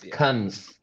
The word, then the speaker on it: Cannes: It's Cunns.